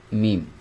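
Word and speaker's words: ميم: এখন মিম উচ্চারণ করার সময় দুই ঠোট লাগবে। লম্বাও হবে। মিম। মিম মিম এখানে এই দুইটা ঠোট আছে দুইটা ঠোট লাগবে মিম মিম ঠোটের যে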